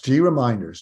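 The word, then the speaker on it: GReminders: or sorry that's the problem with some names G reminders is I think how they want this pronounced G yes G reminders g r e m i n d e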